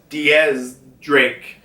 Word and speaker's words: X Drake: stop talking about uh x drake here which yes i do know it's it's actually supposed to be pronounced as diaz drake but x-ray just sounds